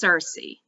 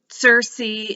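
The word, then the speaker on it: Circe: i'm gonna mispronounce it i think it's cersei is how i've been saying it c-i-r-c-e by madeleine miller this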